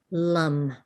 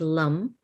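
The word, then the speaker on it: lam: invokes the Earth is Lum and so it's l-a-m the a is sounds like an uh this is the Sanskrit a short a and so it's like Lum and what we're invoking are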